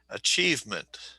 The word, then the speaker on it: achievement: achieve, no, no, no, two, Yeah, it's on the second one. Okay, so achievement. Achievement. Okay. Okay, that's good. And that achievement, okay, I know it's written IE, but it just sounds like E.